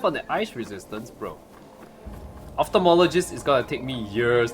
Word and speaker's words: ophthalmologist: Optomotolo, hello moto, yes. Ophthalmologist. Actually, it's pronounced ophthalmologist.